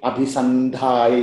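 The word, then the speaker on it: अभिसन्धाय: Abhisandhaya is better. That anuswara, abhisam, no? Sam change into na. Okay. So there is a, I'm just telling this because somebody else asked you, then, so there is a rule in Sanskrit that if this anuswara is followed by any word, that anuswara changes to ne. So that's why it becomes abhisandhaya.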